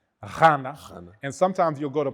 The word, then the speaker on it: Ghana: So when you say Ghana, Ghana isn't even the correct pronunciation. In languages, when you see a GH, it's supposed to be pronounced Ghana.